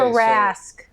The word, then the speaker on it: Tarrasque: beaten the Tarask before?